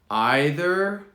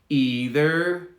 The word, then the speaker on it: either: okay let's do these so we have two options for two variants for both either neither or either neither both are correct so one more time